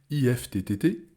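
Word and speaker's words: IFTTT: i e r ou i f ttt i fttt comme ça se prononce c'est des lettres uniquement ces plateformes peuvent automatiser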